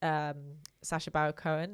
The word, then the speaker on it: Sacha Baron Cohen: My inspiration is Sacha Baron Cohen, is how you say his name, where he does like Borat style.